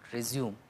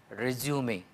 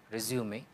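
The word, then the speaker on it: résumé: Whereas CV had this Latin origin, resume, again mind the pronunciation, it is not resume, which is mispronunciation, it is resume, resume, which is French and which just means summary.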